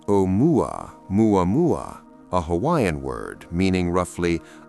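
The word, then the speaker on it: ʻOumuamua: Oumuamua, pronounced Omuamua, a Hawaiian word meaning roughly a messenger from afar arriving first, was unlike anything astronomers had prepared themselves to see.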